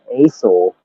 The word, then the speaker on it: Azle: It's Hazel, from the German enunciation Asel, but the people in my town were so podunk they couldn't spell Asel, which is ESEL, which is actually German for ass, like donkey, ass. They couldn't spell it, so they spelled it AZLE.